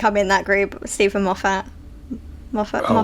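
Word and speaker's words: Moffat: And the other thing people say it's even maf. It's Moffett. Muffet. Moffett, not Maf.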